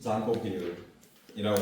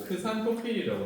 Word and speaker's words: 잔토필: 그 색소의 이름이 바로 우리 다시 앞에 있기로 넘어가시면 카로틴 잔토필이라고 하는 친구가 있습니다. 카로틴 잔토필. 어떤 책에서는요 잔토필이라고 안 쓰고 크산토필이라고 쓰기도 합니다. 크산토필 옛날 발음이라서요 크산토필이라고 하기도 합니다.